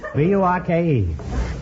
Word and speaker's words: Burke: B U R K E. Mil Burke. Burke. Mild Burke. I'm sorry. It's wrestling. She's the world's champion wrestler. Miller Burke. Mildred Burke.